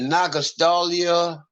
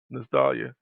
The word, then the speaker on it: nostalgia: Was it Nagastalia? Am I saying it right? Yeah, nostalgia.